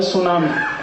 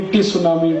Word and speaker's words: tsunami: अंग्रेजी में एक शब्द है सुनामी, कैसे लिखते हैं? TSUNAMI, बोलते क्यों नहीं टी सुनामी, टी सुनामी, टी सुनामी? कहते जी टी साइलेंट है, तो लगाया क्यों, हटा दो उसको।